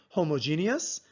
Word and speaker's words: homogeneous: other ways for example you can say homogeneous and heterogeneous with more syllables the way I pronounce them with my accent is homogeneous and heterogeneous I have